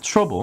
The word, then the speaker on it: trouble: "trouble" 의 't' 발음 을 딱딱하게 하지 말고 'ch' 소리 로 발음 하세요 . 한국어 에는 없는 소리 지만 "tr-ouble" 처럼 발음 하면 됩니다 .